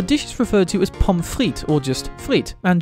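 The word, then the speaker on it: pommes frites: is referred to as pomfrit or just frit and germany has also loanworded this phrase and germanified the pronunciation to pomfritz there is a reason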